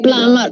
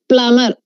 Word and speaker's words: plumber: How do you plumber. Pronounce? Plumber. It's plumber. Plumber. Very good. Plumber. Here, B is also silent. So, B is silent, R is silent. We don't say plumber. We say plumber.